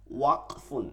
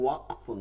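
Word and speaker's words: وقف: দেখেন ওয়াকফুন, এটা আরবি শব্দ, অনেকে বলে ওয়াকফ, এই ধরনের শব্দ মানে উচ্চারণ করা যাবে না। শব্দ হচ্ছে ওয়াকফুন, ওয়াকফুন থেমে যাওয়া।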